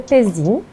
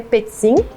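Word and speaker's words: Pezzin: o teu sobrenome corretamente primeira é é pezin no português é pezim se fosse buscar lá na origem italiana seria pezin que nem pizza mas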